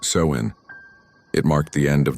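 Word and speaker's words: Samhain: Halloween came from an ancient Celtic festival called Samhine, pronounced sew in.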